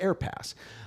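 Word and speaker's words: AAirpass: So this is the AA Air Pass, but you pronounce it just Air Pass.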